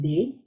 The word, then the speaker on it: Nde: my name is day it's spelled nde and it's pronounced as the second syllable of the word monday and i curate mythological